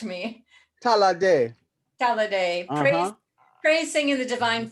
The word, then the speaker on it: Ta'la'ade: And she's going to present on March 13th, Saturday evening, Oshun, I'm not going to be able to pronounce this right, Talade. You can correct me. Talade.